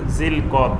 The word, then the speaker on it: জুলকাদা: আমাদের দেশে বাংলায় লেখা হয় জিলকদ, জিলহজ, এইভাবে লেখা হয়, কিন্তু এটার সঠিক উচ্চারণ হবে জুলকাদা, জুলহিজ্জাহ।